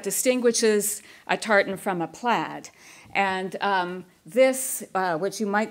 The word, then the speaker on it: plaid: call them checked and the plaid or played as it might be pronounced as a is an